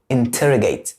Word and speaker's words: interrogate: زي مثال interrogate، فهنا التي جت في ستريس سيلابل interrogate، هنا الستريس سيلابل، فما ينفعش تقول interrogate، هيبقى نطقها غلط تماما.